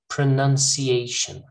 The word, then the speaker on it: pronunciation: Pronunciation. Not pro, all right? Pronunciation.